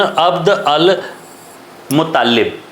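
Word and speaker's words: عبد المطلب: जो है वह था, जिसका जो है वह अरेबियन प्रोनाउंसिएशन एक अलग जो है वह होता है, अब्दुल्ला इब्न अब्द अल मुत्तालिब।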